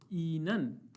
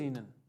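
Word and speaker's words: Ihnen: हालचाल पूछने का क्वेश्चन होता है वी गेट एस ईनन, वी गेट एस ईनन, वी गेट एस ईनन, एच बीच में आ रहा है, साइलेंट कर दिया हमने। वी गेट एस ईनन, क्योंकि जर्मन है, फ्लो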